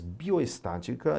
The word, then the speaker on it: bioestatística: que vai dar e bioestatística se você contar de trás para frente você vai ver aqui ó estatística basta você vê que porque no português o que acontece a sílaba tônica só pode cair na última na penúltima ou antepenúltima então aqui nós temos uma proparoxítona uma proparoxítona tá palavra pode ter